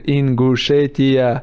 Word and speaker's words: Ingushetia: I told him like you have to Ingushetia, and he do something right and say Ingushetia.